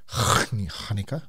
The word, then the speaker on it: Hanukkah: Yeah, you do have to say it like that. Hanukkah.